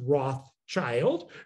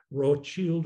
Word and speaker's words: Rothschild: am very adamant that the name should never be pronounced rothschild because it isn't roth child you're breaking the word at the wrong place it's wrote as in red shield wrote shield or red shield now the amazing thing